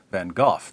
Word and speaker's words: van Gogh: Vincent vano or van or van H or van gof depending on where you're from and how far